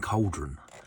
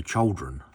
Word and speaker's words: Chaldron: and up at Chaldron, it does sound like I'm saying cauldron, and I'm actually trying to say Chaldron, which is, I believe, how it's pronounced.